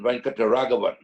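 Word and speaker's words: Venkataraghavan: I mean, there was another spinner called Srinivasan Venkataragavan. If you can't pronounce that, just try saying rent a caravan. You won't go far wrong.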